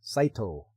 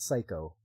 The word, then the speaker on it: Saito: make the choice yeah yeah Saito yeah not psycho I gotta work on